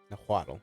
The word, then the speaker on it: Nahuatl: Nahuatl. That's how you pronounce That's that.